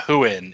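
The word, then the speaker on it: Huion: same one Rob has how do you pronounce that Rob who who in I I don't use mine you tell me oh yeah who in hu i o n it's a just a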